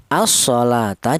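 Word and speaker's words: الصَّلَاةَ: Asalata dibaca idgham syamsiyah. Alasannya ada alif lam berjumpa dengan huruf shad ya.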